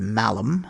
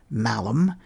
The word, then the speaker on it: malum: In Latin they are called malum, and the word for evil is malum. There is a slight difference in the way the letter A is pronounced.